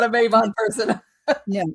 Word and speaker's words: Mabon: was the one that was that leveraged our Mabon argument that persists to this day of the use of the word Mabon, which that's my word. I hate it. You're not a Mabon person. No, it's Mabon for one.